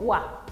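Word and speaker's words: は: Como pueden ver acá, esto generalmente se pronuncia como ja, pero cuando cumple la función de partícula la leemos como wa.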